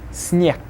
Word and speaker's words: снег: Then the next one, снег, will be снег.